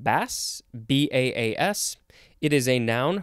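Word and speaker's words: baas: Now we have, I think it's pronounced bass, B-A-A-S.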